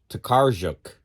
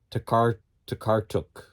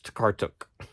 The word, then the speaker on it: Tokarczuk: Now, I was pronouncing her name Tokarczuk, but I heard the narrator of the book at the end. She said it was Tokarczuk. This is pronounced like a T. The CZ, Tokarczuk, something like that. So sorry. I like saying Olga Tokarczuk, but it's wrong. It's Tokarczuk.